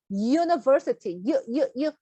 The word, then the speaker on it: university: U로 시작하지만 발음이 university, 여러분이 사전 보시면 발음 기호에 J자 같이 생긴 애가 나옵니다.